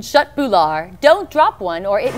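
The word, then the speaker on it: köttbullar: Pronounced in Sweden, shut bular.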